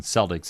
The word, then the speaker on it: Celtic: the Celtic Christmas right I always think of Celtic because you know I of course being a sports fan the Boston Celtics it spelled the same way but it's Celtic when it comes to the music yes it is it it